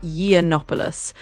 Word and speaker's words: Yiannopoulos: So, his last name is pronounced Yiannopoulos.